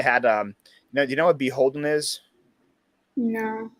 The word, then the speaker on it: BHLDN: I remember that one time they had do you know what Beholden is?